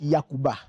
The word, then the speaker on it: Yakuba: Mais dans la lettre, dans la culture des dents la lettre J se prononce mal. Au lieu de dire J, on dit Yi. Donc du coup, au lieu de dire Jakuba, on dit Yakuba.